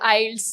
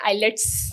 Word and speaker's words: IELTS: है बचपन में बोर्ड आइल्स उस वक्त पता नहीं होता था तो लोग प्रोनाउंस करते थे आईलेट्स आईलेट्स आईलेट्स प्रोनाउंस कर रहे होते थे तो लोग काफी अरसे